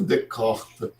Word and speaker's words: Descartes: Aí o Descartes, ou caprichando na pronúncia, Descartes, de René de Perron, Descartes.